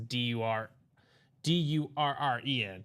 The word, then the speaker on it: Duran: No, Darren for uh the Red Sox is dur Dur Ren.